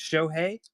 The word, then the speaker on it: Shohei: It's Shohei, nailed it.